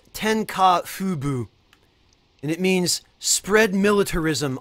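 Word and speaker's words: 天下布武: And it's pronounced Tenka Fubu, and it means spread militarism under the sun.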